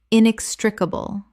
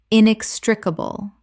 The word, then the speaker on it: inextricable: Inextricable. Correct pronunciation. Inextricable. 5 syllables with the stress on the second, meaning impossible to separate.